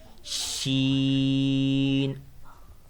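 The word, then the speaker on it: شين: You have to make sh sound there. Sheen.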